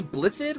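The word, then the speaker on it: Blaiddyd: okay house this is blip-it right like they don't pronounce the double d's this house claims blithe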